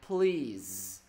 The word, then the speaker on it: please: Nhưng mà đối với trường hợp này thầy sẽ không đọc là sờ nữa mà thầy đọc là z. Horse. Còn này là please.